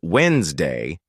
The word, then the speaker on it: Wednesday: When I heard someone pronounce Wednesday as Wednesday, I was shocked. Where did the D go?